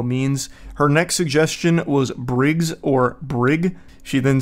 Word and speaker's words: Brig: I knew a kid growing up named Brig, Hard G, which I actually like better, though more likely to be mispronounced.